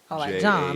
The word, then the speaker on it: jawn: it what that thing j-a-w-n john like lon john yeah yeah cool but